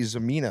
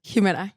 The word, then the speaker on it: Ximena: I say your name Hima Hima I'm sorry I saw the X it's spelled x i m n a correct so it's hea Hima it's like a Mexican name okay so that's what